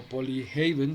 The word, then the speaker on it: Polyhaven: Polyhaven o Polyhaven sería la pronunciación real.